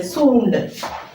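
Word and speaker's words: सूँड: അതുപോലെ തന്നെ സൂണ്ട്. സ, സൂ, സൂ. ഇവിടെയാണ് എഴുതേണ്ടത്. സൂണ്ട്, സൂണ്ട്. എങ്ങനെ വായിക്കുന്നത്? സൂണ്ട്. ഈ ചിഹ്നത്തിന് ന എന്നുള്ള ഒരു ഉച്ചാരണം അവിടെ വരുന്നുണ്ട്. ഇങ്ങനെ എഴുതുമ്പോൾ സൂണ്ട്.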